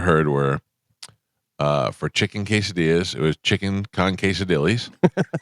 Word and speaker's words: quesadillas: I'll say quazadillos. They hate that.